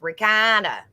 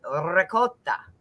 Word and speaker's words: ricotta: So yeah, because that Italian guy, I asked him how to say it correctly, because I knew that traditionally the American way is ricotta. And that's not how you're supposed to say it. It's ricotta.